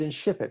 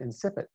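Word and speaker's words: incipit: at the beginning are known as in ship it or some pronounce it insipid and they start or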